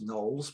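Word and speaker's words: Knollys: meeting house for hanson knolls that's the guy with the weird surnames spelt k-n-o-l-l-y-s but we think it should be pronounced knolls we are english after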